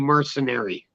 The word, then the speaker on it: Mersinary: by the name of Mercenary. Really dope MC from Toronto. I mean, check him out. It's spelled like Mersinary. But yeah, that's the homie Mercenary.